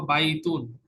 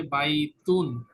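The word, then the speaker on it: بَيْتٌ: এন হচ্ছে দেখো বাইতুন, এখানে দেখা যাচ্ছে বাইতুন, এই যে এন আছে না লাস্টে, যখন এন থাকবে তখন হচ্ছে এটা ইনডেফিনিট, বাইতুন, এনটা উচ্চারণ হবে।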